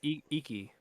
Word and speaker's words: Iki: a new or iku it's e key or yeah i think it's yeah yeah yeah yeah yeah just make sure i don't want to like mispronounce it um but but uh yeah it's gonna have that uh it's gonna be upscaled for ps5 it's gonna be crazy i think it's iki okay i was right the